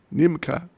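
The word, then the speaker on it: নিমকি: That is called mishti and nimaka Is it Nimaka? How do you pronounce it? Nimka. Nimka.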